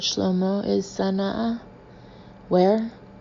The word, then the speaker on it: Sana'a: Our immediate destination, said Shlomo, is Sana'a. Where? It's spelled capital S-A-N-A apostrophe A.